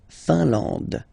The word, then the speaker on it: Finlande: IN here, nasal, un. AN, nasal, en. And then D, final E, not pronounced. La Finlande.